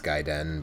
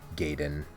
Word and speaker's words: Gaiden: And sort of funny because I think most people know now that it's Gaiden, but I and a lot of people when we were younger, said Gaiden.